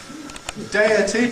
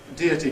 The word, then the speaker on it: deity: Here's a similar graph, or graph, for the words deity taking over from deity, ate as the past tense of eat taking over from et, and patriotic taking over from patriotic.